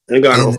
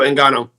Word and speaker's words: Ngannou: Ngannou. That's why I kept calling him Francis. I didn't want to mispronounce his name. So Ngannou.